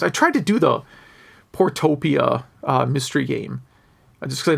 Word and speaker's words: Portopia: He says it's a lot like a Portopopia, which I mispronounced, or Shadowgate, point and click. Those are actually pretty different games. I tried to do the Portopia mystery game, just because I know it's like